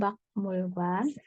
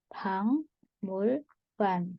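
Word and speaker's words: 박물관: Nah, ini bacanya bukan bakmul관, tapi dibaca 방물관. Kenapa? Kalau giok ketemu niang akan dibaca eng. Jadi 방물관. Oh.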